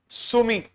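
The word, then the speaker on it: Sumy: Write down Sumi. Very important. Sumi. S U M Y. Write down. Nippro or D is silent.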